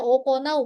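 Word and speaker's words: 行う: Ini dibacanya okonau bukan iku ya.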